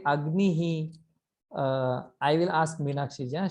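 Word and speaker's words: अग्निः: Agnihi. Agnihi. Rupa ji, do you know why we pronounce this visarga as he?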